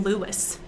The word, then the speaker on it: Louis: i'm shocked willie armstrong louis armstrong pronounced his name lewis like what um so